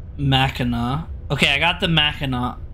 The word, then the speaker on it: Mackinac: It's pronounced Mackinac.